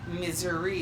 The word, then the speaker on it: Missouri: of that change but misery is actually closer to the original French pronunciation so back to the